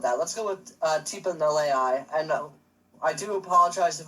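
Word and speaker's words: Galeai: Every time I look at it, I want to say Galei, but it's Nalei. So if I do mess it up, I do apologize. It's just confusing that it's spelled with a G.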